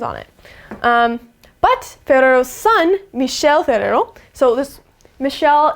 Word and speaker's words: Michel: So it's not Michelle like the girl version of Michelle, even though it's pronounced the same.